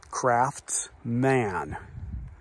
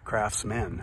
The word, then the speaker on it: Craftsman: I thought it was craft man not Craftsman like k-r-a-f-s-m-e-n that's how most people pronounce it Craftsmen it's not men it's man and there's a t in it but that doesn't seem